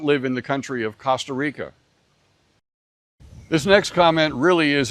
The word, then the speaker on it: Costa Rica: It's never pronounced like the O in cotton or Costco or Bob Costas, and I do not live in the country of Costa Rica.